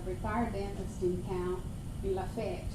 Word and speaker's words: Lafayette: And this Rotarian, who is a retired dentist in town, in Lafayette, it's not Lafayette, it's Lafayette.